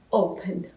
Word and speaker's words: open: perdão, ficam dois N's, e open, a minha sílaba forte, não está no final, está em open, open, então eu não vou dobrar o N, ok?